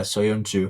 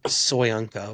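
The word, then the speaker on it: Söyüncü: Soyuncu. It's like, so thank you. I was gonna say Soyunco or something like that.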